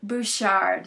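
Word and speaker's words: Butchart: the some of the best how do you pronounce it bouchard bouchard yes have you have you been able to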